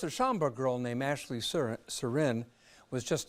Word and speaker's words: Surin: Joining us are Ashley Surin's mother, Maureen Surin, and board-certified family medicine physician, Dr. Leslie Mendoza Temple. Am I pronouncing your name right?